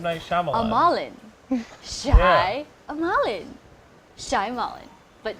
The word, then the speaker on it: Shyamalan: Night Shyamalan? I've always said Shyamalan Why would you say that? because it has the word shy.